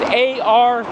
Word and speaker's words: Ario: It's called Ario. Not like the Disney character. This is A-R-I-O. I guess the pronunciation is the same.